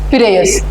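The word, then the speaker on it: Piraeus: है जरूर आप याद रखना what is the spelling P आर ए ई यू एस पियस ठीक है उसके बाद ग्रीस के बाद हम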